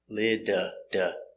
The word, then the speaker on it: little: The T's between the vowels. Little. Now this is a consonant, but phonetically it's a vowel sound next. Lida. Little. Okay.